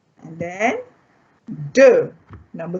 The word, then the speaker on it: deux: And then deux.